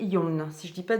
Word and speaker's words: Yeong: je crois qu'on prononce que le O. Donc, ça fait Young et Yon, si je ne dis pas de bêtises.